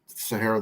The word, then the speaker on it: Sahayra: And Mike, you and I talked about it a little bit ahead of time, but I checked on the pronunciation. So it is Sahayra.